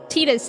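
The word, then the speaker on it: Tidus: Tetus. It is the Okinawan pronunciation of his name.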